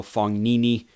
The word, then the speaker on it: Fognini: alex is very or Fabio Fognini where the G is not pronounced further on down the